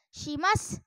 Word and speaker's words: shimasu: Satu lagi sim apa tadi shimasu dibaca Simas Nah sekarang pengucapan huruf